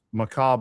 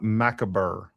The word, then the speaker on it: macabre: There's no hard R in macabre. It's macabre, not macaber.